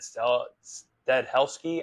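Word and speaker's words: Stahelski: I mean, Chad, I think it's Chad Stadhelski, I think, is how you pronounce his name.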